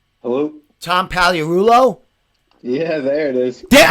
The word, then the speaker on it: Pagliarulo: Tom Pagliarulo?